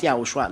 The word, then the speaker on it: YAHOSHUAH: It's good then if you pronounce YAHOSHUAH, not Jesus, but YAHOSHUAH.